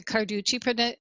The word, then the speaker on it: Carducci: Either one will work, but my husband and I usually use the Carducci pronunciation. Carducci.